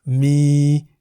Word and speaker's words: มี: Mi begins with a low-class consonant moma, and therefore based on the tone rules for a live syllable, mi is in the middle tone.